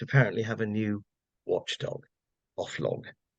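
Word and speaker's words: Oflog: have a new Watchdog off log it can of course be pronounced o flog which I think is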